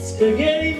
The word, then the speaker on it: spaghettis: We don't pronounce the S, and it sounds like spaghetti.